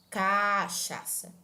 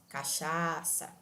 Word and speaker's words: cachaça: exemplo a palavra cachaça nós não falamos cachaça nem cachaça nós falamos cachaça então então quando eu digo cachaça eu estou prolongando eu estou arrastando a pronúncia do segundo a e mesmo assim eu estou mantendo a pronúncia correta da palavra quando você diz cachaça